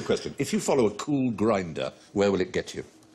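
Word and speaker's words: Kulgrinda: Cool Grinder is spelled K-U-L-G-R-I-N-D-A.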